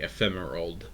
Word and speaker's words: Ephemerald: Pokemon pronounced like ephemeral and emerald combined. It's very hard to say. Ephemerald.